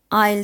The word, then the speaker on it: aisle: Seat कहते हैं, और आइल सीट, वैसे AISLE स्पेलिंग में S आता है, लेकिन हम बोलते वक्त इसे आइल सीट बोलते हैं।